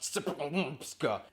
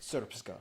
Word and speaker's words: Srpska: I know, it looks like it's pronounced Srpska. It's pronounced Srpska.